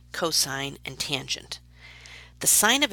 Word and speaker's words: cosine: si n cos and 10 please do not pronounce them as sin cost and 10 that's the quickest way to drive a maths teacher crazy they are sine cosine and tangent yes so in the diagram below